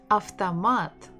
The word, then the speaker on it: автомат: Автомат, автомат, автомат, автомат, автомат. O is not stressed, that's why we say it as A.